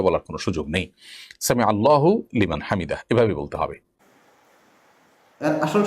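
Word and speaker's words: سمع الله لمن حمده: আসল সমাধান হলো যারা সামি আল্লাহ লিমান হামিদা পড়তেছেন এটা আসলে ঠিক নয় আসলে এর আসল উচ্চারণ হবে সামি আল্লাহু লেমান হামিদা অর্থাৎ হার উপর পেশ করতে হবে এবং লফজে আল্লাহর উপর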